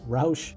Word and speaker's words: Roush: Now, is it Roush? Is it Roo? Is it roucher? Do you have some other obtuse pronunciations for this word? Let me know in the comment section. I'm going to pronounce it as Roush because even the company themselves pronounce it Roush.